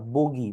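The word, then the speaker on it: buggy: গাড়িটা ব্যবহার করা হয় এই গাড়িটাকে বলা হয় বাগি বা বগি বা যেটাই বলা না কেন মূলত উচ্চারণ হল বাগি তহলে উত্তর সঠিক উত্তর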